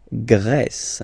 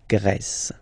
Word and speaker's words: Grèce: La Grèce. Okay, so remember gr, gr. And then this accent grave like that, open. Grèce.